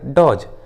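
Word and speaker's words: dodge: डी का उच्चारण नहीं किया गया है, डी साइलेंट है, प्लेज एंड हेज। उसी तरह डॉज, वहीं कुछ कॉमन इंग्लिश वर्ड्स में डी का उच्चारण नहीं किया जाता, जैसे वेंसडे, हैंकचीफ, हैंडसम।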